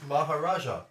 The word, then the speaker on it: Maharaja: Is that how it's pronounced? I always forget. Yeah, Maharaja.